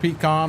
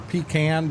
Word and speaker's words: pecan: Uh I'm not a a huge peacon or pecan, depending on how you say it.